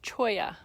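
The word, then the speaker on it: cholla: some sometime so this is spelt but it's pronounced Choya and there's lots of different varieties of Chia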